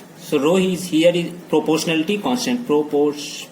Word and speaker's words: rho: इसको क्या पढ़ा जाता है, रो पढ़ा जाता है। ये क्या है, रो, RHO, रो, ठीक है, H यहाँ पे साइलेंट है।